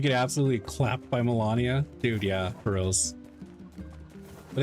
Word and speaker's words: Melania: Melania, the first lady. Am I saying it wrong? Isn't it Melania? Oh, it's Melania. It's me E, not MA.